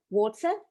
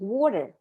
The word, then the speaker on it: water: bad teeth the americans they pronounce it water like with a d not with a t and the reason is